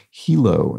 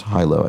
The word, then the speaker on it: Hilo: Dragon traces explains that the Hawaiian place name is pronounced Hilo not Hyo as I as I think I erroneously pronounced it so thank you for